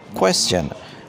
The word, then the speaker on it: question: Question. This word ends with a cha sound.